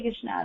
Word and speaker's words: कृष्ण: जिसे हम बोलते हैं तो हमें कृष्णा नहीं बोलना चाहिए। कृष्ण बोलना चाहिए।